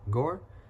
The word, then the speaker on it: Gore: the G so it it's like saying tour but just remove the T from tour and put G and you get Gore kind of weird but